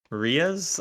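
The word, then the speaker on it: reais: Or it's Oh, it's not real. It's re e a i s rias.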